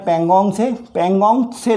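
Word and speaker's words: Pangong Tso: खारे पानी की झीलें पेंगोंग से नाम है इसका, ठीक है। कभी कभी पेंगोंग भी आता है, कभी कभी पेंगोंग सो, ता साइलेंट रहता है।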